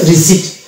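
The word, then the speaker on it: receipt: প বাদ দিয়ে যদি উচ্চারণ করি তবে আমার এটা শুদ্ধ উচ্চারণ হবে এই শব্দটা, অর্থাৎ এটার উচ্চারণ হবে রিসিপ্ট।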